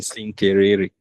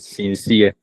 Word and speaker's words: sincere: She had a teacher saying Sinkerere. You know what the person was trying to teach? Sincere. And the teacher was pronouncing it as Sinkerere.